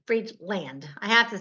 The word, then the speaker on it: Friedland: r i e d l a n d free land I have to say I talk so fast